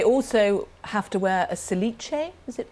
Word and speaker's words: cilice: And they also have to wear a cilice, is it pronounced? A cilice.